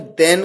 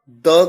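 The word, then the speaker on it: the: Comparative degrees के साथ में देन का प्रयोग किया जाता है, सुपरलेटिव डिग्रीज के साथ द का प्रयोग किया जाता है, जिसे द या दी दोनों तरीके से प्रोनाउंस किया जाता है।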